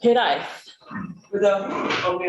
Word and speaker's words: Hiraezh: Hiraezh. Without on the R. I'm not very good at rolling my R's, but thank you very much, Hiraezh. Hiraezh. So in Breton, it's Hiraezh. There's more of a Z, and it's very similar to Cornish.